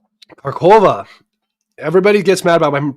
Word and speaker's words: Kharkov: The next phase is going to be the capture of Kharkov. Some people say it's Kharkovo or whatever. I don't care. I'm just going to pronounce it the way I've always pronounced it.